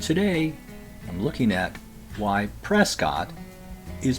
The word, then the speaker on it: Prescott: My favorite example in Arizona is Prescott, pronounced Pres-kitt.